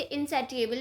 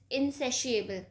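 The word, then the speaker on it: insatiable: कुछ लोग इसे इनसेटिएबल भी बोलते हैं बट the correct pronunciation according to my knowledge is इनसेशिएबल, मतलब जो कभी सेटिस्फाई ना हो.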